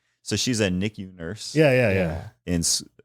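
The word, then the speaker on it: NICU: Nick e a b e so she's a nicku nurse yeah yeah yeah in in La Hoya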